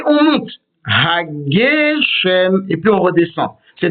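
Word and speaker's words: הגשם: Hagem, ça ce n'est pas correct. Il faut dire hachem. C'est donc le gay qui sera accentué parce que c'est un mot stéroleux. Et dans les mostéroleux, c'est l'avant-dernière syllabe qui est toujours accentuée.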